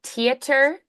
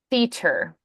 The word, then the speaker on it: theater: to the yeah so your instinct is to go theer but that's more of a British pronunciation that would be extremely unusual in America you won't hear any Americans say it that way so it's going to